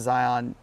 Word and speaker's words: Zion: Um, also I thought I did pronounce Zion as lion with a Z.